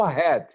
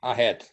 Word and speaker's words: ahead: It's not ahead. Ahead. Head. Ahead. Ahead. Yes. Oh, when you see the letter age in English, age, it's like the R in Portuguese, like hospital, human, ahead.